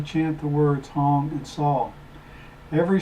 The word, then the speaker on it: Sau: the breath goes out mentally chance saw rhymes with Saul and move the index